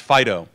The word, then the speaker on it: FD.io: the fast data consortium FD io usually pronounced Fido was launched I guess